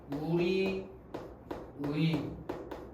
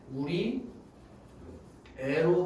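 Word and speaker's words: 우리의: 예를 들어서 우리 의 얘가 원칙으로는 우리 의로 발음하면 되지만 뭘로 발음하는 걸 박준은 허용해 주겠어. 우리 애로 발음하는 게 허용되겠지. 우리 의로 발음하는 게 원칙이지만 우리 애로 발음하는 걸 허용해 주겠지.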